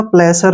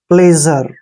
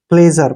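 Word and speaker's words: pleasure: ज करें ठीक है एस के बाद जब भी यू आता है तो एस का उच्चारण ज हो जाता है आर ई को हम र लिखेंगे ऐसे प्लेजर प्लेजर प्लेजर मीन क्या होता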